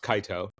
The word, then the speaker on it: Kaito: you terrey fans out there uh Kato is pronounced Kaio so we'll we'll we'll we'll square that up